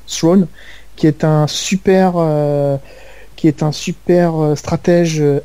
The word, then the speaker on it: Thrawn: Donc, par exemple, il y a un des personnages emblématiques qui est l'amiral Thrawn, ouais, je crois que c'est comme ça qu'on prononce, Thrawn, qui est un super